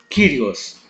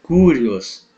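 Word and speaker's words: κύριος: Jota omicron Sigma kirios Não não é correta a pronúncia curios Ok então quando o y tiver junto a uma consoante a sua pronúncia é de I Ok então por exemplo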